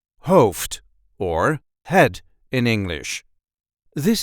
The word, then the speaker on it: hoofd: and this time we will see how to pronounce in a regular Dutch accent Hof or head in English this is how we